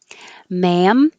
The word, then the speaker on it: ma'am: like a z miz ma'am no d ma'am is the vowel ah so you have to open and keep your lips back ma'am and this is um